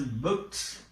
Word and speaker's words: booked: Here it is pronounced as booked.